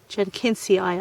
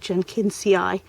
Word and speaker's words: jenkinsii: Jen jenin Jen kiny Jen kiny eye I suppose that double I is generally pronounced as a um I sound like jinci although that's not the way I was taught in Latin School and um I had